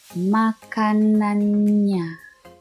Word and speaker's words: makanannya: Makanannya. Double N, so you pronounce the N twice. Makanannya.